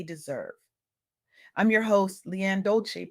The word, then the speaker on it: Dolce: I'm your host Lianne Dolci, pronounced dol-say, like sweet softness whispered in French, and I'm your guide